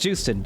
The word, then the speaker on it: Joosten: just in time also I'm pretty sure it actually is pronounced Joosten I really thought it was like you sin or something but I have heard made people pronounce her name but it's always been said juice and I think